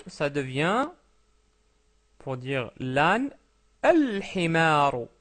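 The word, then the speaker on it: الحمار: Donc himarun, un âne, ça devient, pour dire l'âne, al-himaru, al-himaru. Pourquoi? Parce que le ha est une lettre lunaire.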